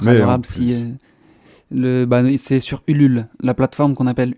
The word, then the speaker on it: Ulule: c'est sur Ulule, la plateforme qu'on appelle Ulule, donc ça s'écrit comme ça se prononce, U-L-U-L-E, Ulule, et il faut taper juste Alligator nouvel album, et vous tomberez sur la plateforme.